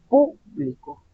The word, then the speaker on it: público: Primero tenemos la sílaba tónica al inicio. Público. El público. Luego dice yo publico. Si se dan cuenta, ahí está la diferencia. Inicio, el público está en la primera sílaba, la sílaba tónica o la acentuada.